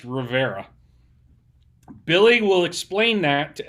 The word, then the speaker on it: Riviera: is in Rivera Texas which is spelled Riviera I still haven't wrapped my mind around this but is pronounced Rivera Billy will explain that